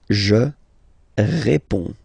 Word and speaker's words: réponds: Je réponds. Okay, so you can see that D and S here are not pronounced.